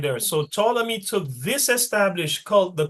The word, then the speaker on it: Ptolemy: When you see P and T like that, it's just pronounced with the second letter only. The P is silent. So that would be Ptolemy, okay?